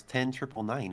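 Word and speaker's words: 10-999: Just going to throw in there that they typically pronounce us as 10 triple 9 in the lore.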